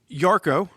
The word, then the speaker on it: Yarko: one uh this is yarko pronounced as it's spelled uh which is y-a-r-k-o